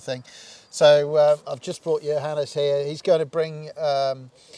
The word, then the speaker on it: Johannes: Yeah, Johannes. Pronounce right.